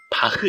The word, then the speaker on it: 바흐: 있는 사람이 꽤 많더군요 원래 독일어 바람인 바흐 인데 이걸 일본 사람들이 잘 발음하지 못해서 바하 라고 부르기 시작했고 우리나라도 일본의 영향을 받아 바하 라고 부르게 된거죠 사실 음악의 아버지 라는